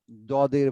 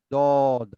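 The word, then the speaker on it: ض: এটি হবে কি, জিহ্বার গোড়া উপরের ডান ডাইনে বা পাশে, বাম? ডানের বা বামের দাঁতের গোড়াতে লাগিয়ে উচ্চারণ করতে হবে। দদ, আগে জিহ্বার গোড়াটা ডানের দাঁতের সঙ্গে লাগিয়ে দিয়ে দদ, এইভাবে বললেই হয়ে যাবে ইনশাআল্লাহ।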